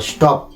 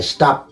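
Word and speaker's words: stop: খেয়াল করুন এসটি ওপি আমাদের সাধারণত দেশে এটার উচ্চারণ করা হয় স্টপ কিন্তু ওয়েস্টার্ন কান্ট্রিতে এটাকে উচ্চারণ করা হয় স্টাফ স্টাপিং দা ওয়ার যুদ্ধবোধে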